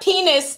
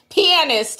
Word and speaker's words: pianist: He said, not penis, T, it's pianist.